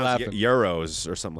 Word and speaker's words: gyros: And dude, but I'm telling you, bro, she's Gyros are Greek, right? Yes, it is. Yes, it is. Yes, it is. Oh, my bad. The camera I think they're guy's pronounced laughing. Euros or something like that.